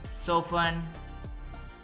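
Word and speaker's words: soften: party party फसन बांधना सो फन इसमें T silent है सो फन नरम करना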